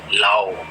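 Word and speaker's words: Laos: इधर S silent है, लाओ।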